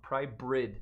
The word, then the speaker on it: Prybrid: the Gerber pry pry I always say it wrong prybrid not bird prybrid X um yeah just a